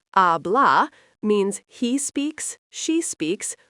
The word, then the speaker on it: habla: Habla pronounced ablah means he speaks, she speaks or you speak formally.